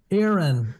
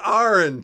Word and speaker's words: Aaron: You know how to say his name, right? Aaron. No, it's Aaron. Jesus Christ.